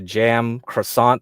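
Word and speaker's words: Cem Karsan: him up okay and I think his name is mostly pronounced closer to jam croissant that's why his like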